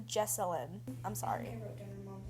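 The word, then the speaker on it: Jessalynn: um I found out her mom's name is pronounced jesselin and I say jeline the entire time so um yeah it's pronounced jesselin I'm sorry wrote down mom jine jasine and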